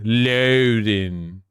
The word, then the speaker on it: Loudoun: Say loud, say in. Loudon.